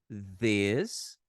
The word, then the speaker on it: this: Ó, repara na pronúncia, gente. Esse som não tem no português. This, this. A gente tem que colocar a gente tem que colocar ali a língua entre os dentes para produzir o som correto.